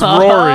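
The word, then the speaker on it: Roary: And their mascot's name is Rory the Tiger, but it's spelled O-R-O-A-R-Y, like because it roars a lot. It's Rory.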